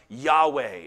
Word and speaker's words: Yahweh: Triune I am himself the Covenant name was probably pronounced Yahweh it's sometimes been vocalized as Jehovah as long as you